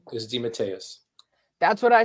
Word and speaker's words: DeMatteis: it it you know demeteus is the authentic italian pronunciation and it got americanized into d'amatis so a lot of